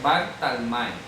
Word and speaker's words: Bartalmai: Dice a Andrés, Felipe, Bartalmai, que aquí es Bartolomeo, pero en hebreo es Bartalmai.